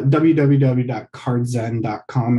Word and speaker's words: Card Z3N: yeah so yeah the the e is just a three so it's a backwards e